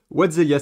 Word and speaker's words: WhatTheHellia: le font et en l'occurrence je suis avec Watzelia. C'est est-ce que c'est bien comme ça qu'on prononce ?